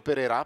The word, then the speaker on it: Perera: giusto come ha fatto perera perché è francese quindi l'accento va in fondo mi scrivono quello che